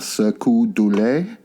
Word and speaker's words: Cirque du Soleil: So in the late 90s, George Harrison met the founder of Cirque du Soleil. That's how you pronounce it.